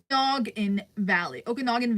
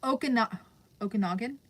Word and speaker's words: Okanagan: Okanagan Valley, kind of how it's pronounced. Not sure if you did that pronunciation. Okanagan.